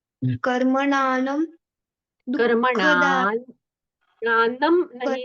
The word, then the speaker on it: कर्मणां: कर्मणां कर्मणान, प्राणम नहीं है, कर्मणा पर अनुस्वार है ना, तो अनुस्वार का उच्चारण न जैसा होना चाहिए।